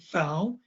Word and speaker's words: Pfau: Wade Pfau, and his last name is spelled P-F-A-U, Pfau.